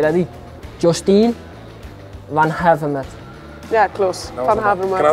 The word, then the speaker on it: Vanhaevermaet: Vanhaevermaet.